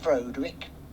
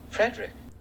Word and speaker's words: Frederick: Do you also say Froderick? No. Frederick. Or why isn't it Froderick Frankenstein?